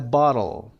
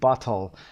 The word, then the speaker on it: bottle: دوستان میگن چرا نمیگید bottle؟ وقتی که میخواید زبان رو به صورت امریکن تلفظ کنید باید بگید bottle. یعنی تی رو به سرعت روی زبانتون به سقف دهان بخوره برگرده.